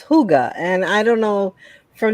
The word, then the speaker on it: hygge: don't uh hugo oh you know i always pronounce it wrong it's hygge and i don't know from the beginning i've always pronounced it hiji and it's hygge yeah thanks for correcting me indiana i took